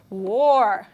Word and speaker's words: were: A pronúncia aqui é were. Why? Se eu falar where, eu estou falando onde em inglês, ok?